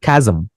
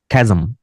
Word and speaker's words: chasm: Second শব্দটার উচ্চারণ হচ্ছে খ্যাজম, খ্যাজম। CH এর উচ্চারণ এখানে কয়ের মতো, খ্যাজম।